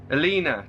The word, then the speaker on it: Elena: the Dirk's living with Elena alena to rhyme with cleaner sorry he's been trying